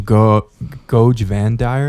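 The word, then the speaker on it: Goge Vandire: As the Imperium was thrown into another civil war because of Goj Vandire, is that how you say it?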